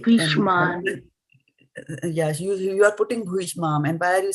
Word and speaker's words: bhīṣmam: Mataji, Why are you putting the emphasis on bhīṣmam. this? Yes, bhīṣmam. And the moment you say bhīṣmam, then you will have to drop the, and you were trying to sing in a particular meter, right? And so moment you start putting the wrong emphasis on the vowel, then you will never get the meter right.